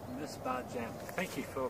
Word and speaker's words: Misbahçem: Misbahçem. Misbahçem. Thank you for pronouncing that.